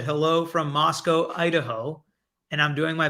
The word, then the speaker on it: Moscow: um and today yeah Moscow rhymes with Costco so we've got all